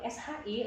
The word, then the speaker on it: shi: Oke, kemudian kalau SHI letak lidahnya di langit-langit mulut.